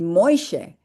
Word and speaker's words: Moshe: How come it seems to me with that segol at the end in the two syllables that I think it should be Moishe, but everybody says Moshe, and he says, well, he grew up saying Moishe, Moishe.